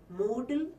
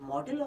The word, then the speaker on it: modal: these auxiliaries are called mortal auxiliaries note the pronunciation modal auxiliaries not model auxiliaries not modal auxiliaries it's actually coming to